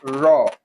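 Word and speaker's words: ر: This one is pronounced as raw. No raw no extra distance just natural. There's no any extra um anything added to it. So it is raw. You understand? Pronounced as raw just like a raw produce.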